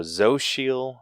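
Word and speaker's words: Xochitl: how do you say that social or social okay that sounds right yeah so zo shiel gomez who played america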